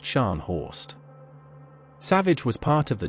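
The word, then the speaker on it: Scharnhorst: Her target was the German battle cruiser Stanho, the terror of the North Atlantic, pronounced Shanhorst.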